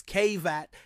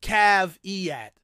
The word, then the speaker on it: caveat: And it's often mispronounced by Americans as caveat instead of caveat. You see, when we add the suffix at to a word, we don't pronounce the at. We pronounce it at, as in the Batman villain, not at, as in the opposite of it.